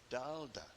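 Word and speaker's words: Thaler: Dutch merchants pronounced Tala Dala.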